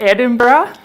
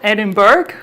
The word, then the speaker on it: Edinburgh: We pronounce it Edinburgh, right? It's not Edinburgh or Edinburgh.